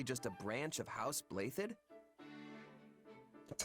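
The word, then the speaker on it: Blaiddyd: evonne is actually just a branch of house blathed that's how you pronounce it yes though really if you trace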